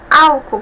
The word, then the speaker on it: álcool: Se nós separarmos ali as sílabas, ó, vamos pegar a caneta aqui, ficaria álcool. A separação aí, ó, nessas duas letrinhas, ó, nós temos a divisão silábica. Então, são 3 sílabas e a mais forte é a antepenúltima. Proparoxítona é acentuada, tá bom?